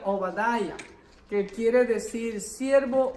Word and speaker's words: Obadiah: Como ustedes ven ahí, Abdías en hebreo se pronuncia Obadiah, que quiere decir siervo o adorador del Señor.